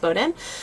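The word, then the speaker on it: Bowdoin: Looks like it's ba but it's actually pronounced Bowden.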